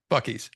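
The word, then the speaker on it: Buc-ee's: Bucky's, yeah.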